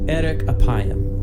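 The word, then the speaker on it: אֶרֶךְ אַפַּיִם: In Hebrew, the phrase slow to anger is pronounced erek apayim, or literally long of nose.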